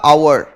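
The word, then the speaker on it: hour: हैं इन एन आर, इसका सही प्रोनाउंसिएशन होता है आवर, आ उ अ ऐसे आवर। आप तो छोड़ो, आप तो इसको देखो, एच साइलेंट है, क्या लगा इसमें, एन आर।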